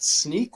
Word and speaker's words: Snyk: I'm the field CTO at Snyk, which, as I'm sure you know by now, stands for So Now You Know, and it's pronounced like a pair of sneakers or sneaking around.